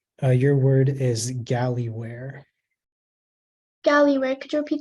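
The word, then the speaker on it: gallyware: um sorry 69 all right uh just give me a second um all right uh your word is galley where golly where could you repeat the word uh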